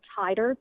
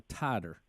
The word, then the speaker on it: titer: of that test again it's an MMR tighter t-i-t-e-r a tighter t-i-t-e-r yeah I've never heard